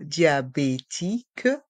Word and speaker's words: diabétique: s est mué et dans le mot diabétique les voyelles I et a se prononcent bien ensemble dia diabétique et le Q et le U font le son que comme la lettre K je suis diabétique je